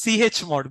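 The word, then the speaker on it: chmod: need to call this CH mode which command don't pronounce together okay if you pronounce together what will happen Cham mod will happen what will happen Okay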